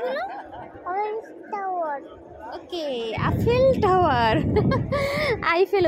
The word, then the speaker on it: Eiffel: শুনি না জোরে বলো টাওয়ার ওকে আপেল টাওয়ার আইফেল উচ্চারণ করতে পারে না ও বলে আপেল টাওয়ার এখানে লম্বা লাইন এরা সবাই আইফেল ডরের